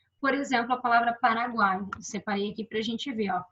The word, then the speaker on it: Paraguai: em juntinhos né Por exemplo com a palavra Paraguai separei aqui para gente ver Paraguai isso aqui